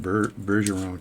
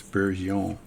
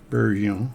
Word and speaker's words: Bergeron: I think I said Bergeron tool the other way, but it's Bergeron. That's how you would pronounce that word, by the way, for you people that aren't French. Bergeron.